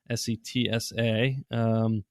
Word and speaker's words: Setsa: Setzer is Setsa, Setsa. Says a little bit like Sarah, so Setsa.